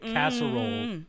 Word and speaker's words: casserole: I just made casserole, which is 3 syllables, into 2 syllables. Casserole. See?